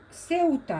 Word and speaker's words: Ceuta: Ceuta, hein? Ça se prononce comme ça.